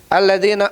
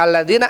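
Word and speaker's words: الذين: Alladina harusnya alladzina alladzi yukminun.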